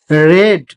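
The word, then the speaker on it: read: দে হ্যা রেড। রিড রেড রেড। Spelling একই। উচ্চারণটা হয় রিডের জায়গায় রেড।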